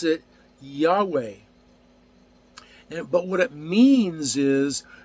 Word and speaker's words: Yahweh: His name in Hebrew is spelled Yod-He-Vav-He, or English transliteration YHVH, and we pronounce it Yahweh.